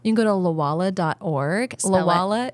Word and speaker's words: Lwala: Lala is spelled L W A L A, right?